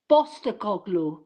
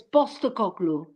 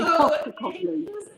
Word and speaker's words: Postecoglou: Yeah, but it's actually pronounced Angelos Postecoglou, because the P is a B. So it's Postecoglou. But when you Yes. pronounce it in English, you say Postecoglou.